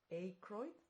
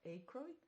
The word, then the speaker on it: Aykroyd: She's married to this actor Dan, I think it's called or pronounced Aykroyd, Dan Aykroyd, and then there are the other actors Rupert Everett and Jonathan Pryce.